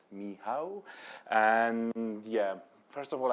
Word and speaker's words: Michał: some intro it's me my name is miow and this is how it's pronounced miow and yeah first of